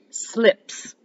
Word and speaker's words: slips: All right, let's move on to slips. Slips. Let's just pound out the syllable. Slips. Slips. Slips. Okay, careful because this is where you're adding, like, we don't say "suh."